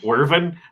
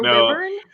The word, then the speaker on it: wyvern: because it's like a thing I do is mispronounce monster names. Wyvern? Werven? What is it? I think it's wyvern. I say wyvern or wyvern.